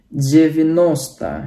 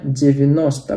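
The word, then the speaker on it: девяносто: Tapi kalau 90 bukan jadi jisyat ya, bukan, tapi jadi jevinosta ya, jevinosta, penekanannya di o, jevinosta.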